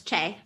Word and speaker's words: Che: How do you say it's Che, right, Jess? Yes, it's Che. Yeah.